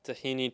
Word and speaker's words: tahini: So, this is a tahini chocolate chunk cookie or I will pronounce it like we say tahin, but people usually call it tahini because that's how it's spelled in in in English.